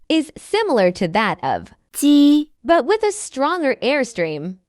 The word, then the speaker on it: 鸡: is similar to that of 鸡。 but with a stronger airstream, as 七。 is an aspirated sound. While 鸡。 is inaspirated, the sound is produced